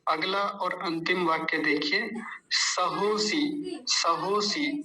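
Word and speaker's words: सहोऽसि: और अंतिम वाक्य देखिए सहोसी सहोसी सहो असी नहीं सहोसी ठीक है सहोसी बस जैसा लिखा है वैसे ही बोलना है सहोसी सहो म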